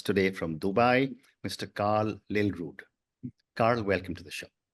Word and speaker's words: Lillrud: Karl, Lill Rud Karl, welcome to the show. Thank you so much, and I must say a perfect pronunciation of my surname, which is not that easy.